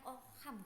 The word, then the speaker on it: Ockham: Terus di sini ada Ockham, bacanya Ockham gitu ya, yaitu menjelaskan tentang membandingkan 2 hal khusus yang dimana satu ada pengaruh tentang metode tersebut dan satunya tidak berpengaruh.